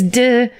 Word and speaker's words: DiCicco: I think it's DiCicco, but it's spelled D-I-C-I-C-C-O. Or Diccio? No, it's not that. It's DeCicco. DeCicco. Ciso was named after him.